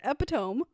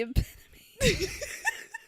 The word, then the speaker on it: epitome: I was like the epidome. So much confidence. How it's spelled. They're like the epitome.